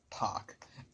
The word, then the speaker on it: Paak: Anderson Paak, Till It's Over, or Anderson Paak. I pronounce it as Anderson Paak.